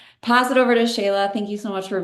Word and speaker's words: Shelagh: myself some street cred my name is Shayla I know it doesn't look anything like that that's why I always